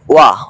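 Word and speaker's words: وَ: তিনি আপনার কথার ধাচে যে অনুবাদ উচ্চারণটা আসে ওইটার আলোক অনুবাদ করতেছে। ওয়া অর্থ এবং এ কারণে দেখবেন আমি মানে মাঝে মাঝে ওয়াও না বলে ওয়া বলি।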